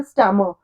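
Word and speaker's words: stammer: हकलाना, स्टैमर, इसको स्टैमर नहीं बोलना है, आर साइलेंट होता है, क्या बोलना है, स्टैमर, स्टैमर्ड, स्टैमर्ड।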